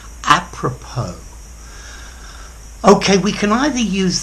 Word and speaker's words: apropos: hi there students apropos notice the pronunciation this is a loanword from French apropos okay we can either